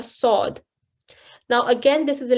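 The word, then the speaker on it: ص: This letter has the same articulation point as the letter sin. So you're still pressing your teeth together, but the top of the tongue is raised to the roof of the mouth to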